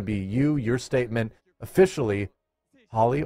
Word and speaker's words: Holly: you your statement officially Holly or holy holy holy wow okay but it's but it's spelled Holly on the card I I I I